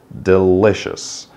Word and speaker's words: delicious: to say delicious delicious so the stress is on the second part delicious so delicious is something